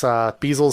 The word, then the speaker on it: Biesel: It's Biesel spelled like gas, the gas, but with a B.